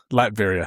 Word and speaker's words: Latveria: Latveria? Latveria.